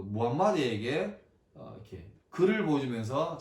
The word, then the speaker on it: 무함마드: 근데 지금은 꾸란 그리고 무함마드라고 부르죠. 꾸란은 114장 6209절인데 이 이슬람계에 의하면 대천사 가브리엘이 그 무함마드에게 이렇게 글을 보여주면서 자 읽어라 그렇게 했대요.